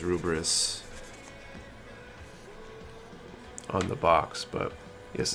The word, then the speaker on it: Lfrith: gets a wonky translation it's pronounced almost as Rumors in the show but spelled Air Force somehow I think it's a dude with the way sounds are romanized the the Katakana actually says rubris on the box but